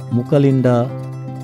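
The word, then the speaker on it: Mucalinda: ঢুকতেই বাম পাশে বুদ্ধের পিছনে যে বহুমাথাযুক্ত সাপ দেখছেন, এর নাম মুচিলিন্ডা। এর আরও উচ্চারণ হতে পারে, যেমন মুচালিন্ডা, মুকালিন্ডা।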